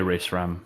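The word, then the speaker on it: Rae Sremmurd: Ray Shremmond? I just say Ray Shrem because that's the way they say it. Fair enough. Yeah, Ray Shrem is back with Shrem Life 4.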